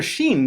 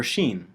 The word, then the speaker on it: shin: The letter Shin is best treated like the SH sound in a word like shovel.